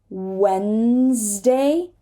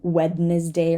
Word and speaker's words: Wednesday: d here we have Wednesday Wednesday it's not going to be wetness day or whatever we do not say the Deep Wednesday handsome handsome right